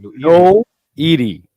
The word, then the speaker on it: Noiri: Noiri. Noiri. There you go. I've been calling it Nori the whole time. Me too. I was like looking at his name. I was like, oh, it's Noiri.